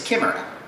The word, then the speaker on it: chimera: The Greek word for which is chimera, or chimera, however you want to pronounce it.